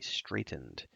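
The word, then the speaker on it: straitened: straightening a crooked line although it's pronounced the same straightened but spelled s-t-a-r sorry I need to read s-t-r-a-i-t-e-n-e-d straightened and I looked it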